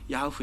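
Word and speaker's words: 야훼: 제일 우리가 추적한 바로 가장 정확한 발음이 야후 에요 근데 또 그렇게 얘는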